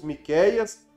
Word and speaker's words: Miqueias: é o profeta Miqueias na nossa língua portuguesa pronunciamos Miqueias e a tradução é